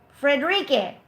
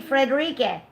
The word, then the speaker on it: Frederique: Fala says, you pronounce the last E the same as the first E. Frederique. So it's an S sound, right? Frederique.